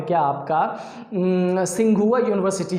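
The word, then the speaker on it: Tsinghua: सिंघुआ, लेकिन वो टी से शुरू होता है, टी साइलेंट है।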